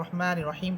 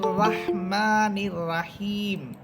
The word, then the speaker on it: রহমানির রহিম: যে বিসমিল্লাহির রহমানির রাহিম, আপনি পড়লেন রাহমানির রাহিম, এটা ভুল উচ্চারণ। এখানে রয়ের উপরে আছে জবর, এখানে আপনি রাহমানির রাহিম বললে এটা ভুল হবে, এখানে আপনাদেরকে পড়তে হবে রহমানির রহিম, রহমানির রহিম, অর্থাৎ র হরফ এখানে মোটা, এই জন্য আপনাকে আকার